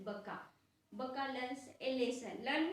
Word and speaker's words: Bukka: Don't say it Buka. Its pronunciation is Baka.